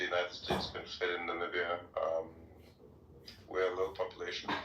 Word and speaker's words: Namibia: Yeah, Namibia. Yeah, Trump called us Nambia one time.